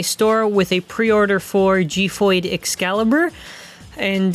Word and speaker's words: Xiphoid: So officially in the ad, they say XIPHOID, like XIPHOID XCALIBUR or whatever, right? So that's what I'm gonna be calling it, just based on the advertisement. I know that there's been various pronunciations, but XIPHOID is what I'm going to go with.